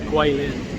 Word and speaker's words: Kweilin: and a W, but in China it's spelled with a G and a U, but it's pronounced the same, Kweilin.